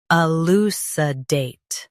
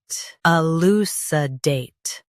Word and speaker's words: elucidate: Elucidate. Both US and UK have the same pronunciation of this word. Stress date. Keep lou and sa soft. Elucidate. Elucidate. Stress date. Keep lou and sa soft.